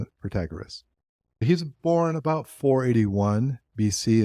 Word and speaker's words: Protagoras: It's Protagoras. Okay. And I'm pronouncing it Protagoras.